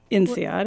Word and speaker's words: INSEAD: It was INSEAD. I now know how to pronounce it.